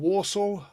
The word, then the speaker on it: wassail: Sometimes called Wassel, various pronunciations. And this tune, you'll know. I'll sing you a few snatches of it. I won't have time for the whole thing, but... Oh, wassail, oh, wassail, oh, wassail,